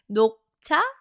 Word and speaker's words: 녹차: Everybody say 녹차, 녹차, 녹차. Okay, it sounds like knock knock. Here's your cha.